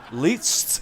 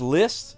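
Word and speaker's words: Liszt: long face hey oh least is pronounced list oh well then I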